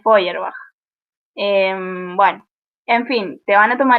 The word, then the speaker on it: Feuerbach: Feuerbach también es re complicado el cómo se escribe, creo que es Feuerbach, algo así. sí, En realidad es Feuerbach.